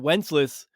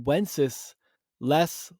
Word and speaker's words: Wenceslas: Stephen but it's good I've been pronouncing his name wrong so it's good King wences less looked out on the Feast of Stephen so good I didn't